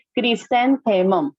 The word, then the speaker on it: chrysanthemum: And chrysanthemum. Pronunciation करना ही पड़ेगा तो ही आप स्पेलिंग लिख पाओगे, राइट? क्रिसेंथेमम.